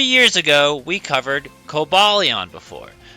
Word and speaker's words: Cobalion: As you can see, 3 years ago, we covered Cobalon before. Coaleon technically is how it's pronounced, but now we have Iron Crown to look at.